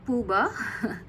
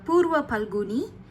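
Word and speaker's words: Purva Phalguni: Venus uh glyph symbol it's not Puba it is uh purva paloni or purum in taml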